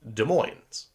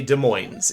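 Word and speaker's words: Des Moines: if you're from Washington you say De Moines if you're from other parts of the countries you might say either dead like desm or uh De Moine uh there's weird ways to pronounce it right this cuqua gentleman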